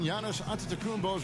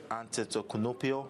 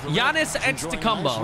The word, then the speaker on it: Antetokounmpo: Pronouncing Giannis Antetokounmpo's name correctly. Giannis Antetokounmpo. Something he discussed before today. The worst I've ever heard was my rookie year. A guy called me Antetokounmpo, and Kunopi in Greek means mosquitoes.